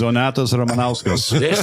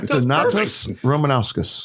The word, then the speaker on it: Donatas Ramanauskas: It's pronounced Donatas Ramanauskas. See? There you go. The Lithuanian. Yeah. Donatas Ramanauskas. That's right. Perfect. Okay. Excellent. Roll that R.